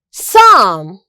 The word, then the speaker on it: psalm: The letter P is silent in the word psychology, psalm, pneumonia, and so on.